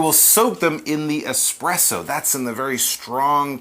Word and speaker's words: espresso: Espresso!